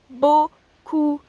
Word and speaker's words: beaucoup: And you can also say merci beaucoup, which means thank you very much or thanks a lot. Merci beaucoup. Again, remember those words, those sounds, o and ou, beaucoup.